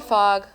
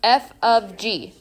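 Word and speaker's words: f∘g: Okay, this is not fog. Do not say fog. Oh my gosh, that bothers me so bad. This is pronounced f of g.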